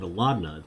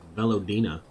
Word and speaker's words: Velina: pronouncing that wrong horribly I've been pronouncing pronouncing it velna but it's velina Commander the fourth cohort